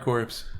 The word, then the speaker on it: Corps: So, Contra, Hard Corpse, and ASURA'S Wrath. We're going to start with Contra, because that's the brief one. Contra Hard Corpse. Contra Hard Corpse. CORP, right? Yeah. Like Marine Corps, how they spell it, or whatever.